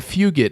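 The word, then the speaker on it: Fugitt: Adam Fugit. Adam Fugat is how it's pronounced lost lost to Tai Miller by TKO in the very last second.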